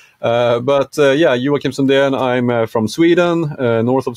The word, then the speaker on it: Joakim Sundén: Well, first off, my name in Swedish, it's actually pronounced Joakim Sundén. Joakim, but it's, you know, you did a pretty good job. English speakers, native English speakers have even more difficulty understanding the J.